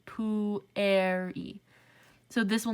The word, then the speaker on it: pueri: not a diphthong so when we say pueri we are both pronouncing the u and the e separately poo air e so this will not